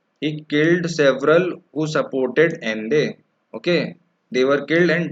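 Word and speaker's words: Allende: So Salvador Ende. You read this Ende. Okay. Because double L is not pronounced in Spanish.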